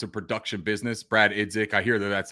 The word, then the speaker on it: Brad Idzik: The verbiage that Dave Canales and the staff are saying, as far as it's a production business, Brad Idzik, I hear that's how you pronounce this, Brad Idzik.